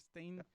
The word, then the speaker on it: Stein: Stein, Yeah. from And actually, if we are on pronunciation, the German pronunciation is Stein with a Stein, Stein, Stein.